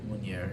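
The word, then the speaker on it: Meunier: Munier, yeah.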